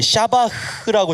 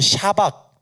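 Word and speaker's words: שבח: 여러분, 거기 찬양이란 단어에 샤바흐라고 적어주세요. 샤바흐. 네, 가래 뱉는 발음까지는 적을 수가 없으니까 샤바흐라고 적어주세요. 또는 안 그러면 샤박 또는 샤바흐라고 적어주세요.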